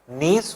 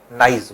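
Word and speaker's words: gneiss: Pronunciation इसका जो है वो है नीज और दोनों। कुछ कंट्रीज में इसको नीज बोला जाता है, कुछ कंट्रीज में नाइज बोला जाता है।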